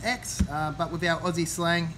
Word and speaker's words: Aix: a big aix here it is actually pronounced just x but without aussie slang aix is fine as well